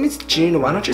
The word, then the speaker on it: Joon: people it's hey so my name is just Jun sang a song and people are like